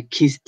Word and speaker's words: kissed: Then you will know that kiss in past will be pronounced with T at the end. So I kissed a girl yesterday.